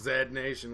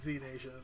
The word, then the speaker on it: Z Nation: Z Nation Z Nation maybe it's pronounced Zed Nation where you're from it's Z Nation it's sci-fi a ridge